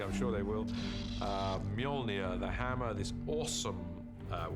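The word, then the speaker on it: Mjölnir: The first challenge with a hammer is to work out how to pronounce it, which is Molia uh in our movie at the moment. Until somebody corrects me, I'm sure they will.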